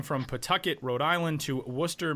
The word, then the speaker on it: Worcester: The, uh, Worcester Baseball Club moving from Pucket, Rhode Island to Worcester, Massachusetts, which is a, uh, city name that is spelled with a whole bunch of, uh, unnecessary letters.